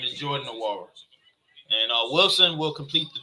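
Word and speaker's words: Nwora: I kept saying his name wrong. His name is Jordan Nawara.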